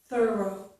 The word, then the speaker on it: thorough: The first vowel sound is thorough, thorough. So the first vowel sound is different, but the second vowel sound, the ending sound, is the same, okay?